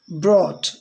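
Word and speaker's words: brought: लाना, ब्रॉट यानी लाया, ब्रॉट यहाँ पर GH साइलेंट है।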